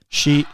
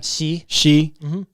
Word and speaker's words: Xi: How do you pronounce the president's name? Xi. Say it again. Xi.